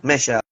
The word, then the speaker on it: Mechelle: And by the way, the correct pronunciation is your name is Michelle, Yeah, or how can I? yeah, that's Yeah, correct, Michelle. Michelle.